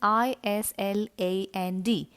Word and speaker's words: island: island when i say island its spelling is i s l a n d please notice the letter s is silent here so it's pronounced island and this word i'll